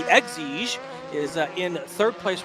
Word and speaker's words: Exige: I learned last weekend I was saying it wrong, and I was saying an Elige. That's because I'm old, but this is the Exige, is in third place right now.